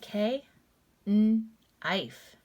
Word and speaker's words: knife: Silent K, n-ife, knife. All right, so what you'll do with these words, you could pick one, and I'm going to use knee.